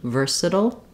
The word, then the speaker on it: versatile: here at the end for the T we do a flap sound which is like a light D versatile SLE SLE um because we have a reduced syllable after it and so it's a dark l and a flap T together this is the same thing that uh we use in words like little um or Seattle uh and you can